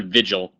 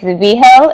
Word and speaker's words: Vigil: because I feel like it's not Vigil. It's not. It's Vigil. It's Spanish, so the G is pronounced like an H.